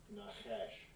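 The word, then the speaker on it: נחש: How it's pronounced. Strong's H 5172. Nahash.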